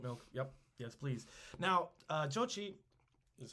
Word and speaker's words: Jochi: Jochi is how we would spell it. Jochi or Jokai. Jochai, maybe. That was his eldest son.